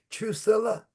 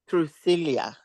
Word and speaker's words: Trucilia: Trusilla? That's my first name, and it's Trucilia.